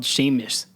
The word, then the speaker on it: Seamus: Yeah, it's usually Seamus is spelled Seamus. Seamus is said Seamus, right? Yeah. It's an Irish name. Seamus. Seamus. There's a Seamus in It's my the high school. Irish equivalent to the name James.